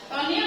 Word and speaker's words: tonil: Tonil berasal dari bahasa Belanda, dari kata tonel ditulisnya ya. Dibacanya tonil yang berarti pertunjukan.